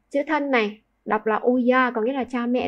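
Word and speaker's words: 親: Tiếp theo, chữ thân đọc là uya.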